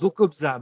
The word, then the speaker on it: Bokobza: de moi e B alors ça se prononce difficilement bokska tu es d'origine polonaise je pense Bokobza Bokobza non non B hongrois ça a une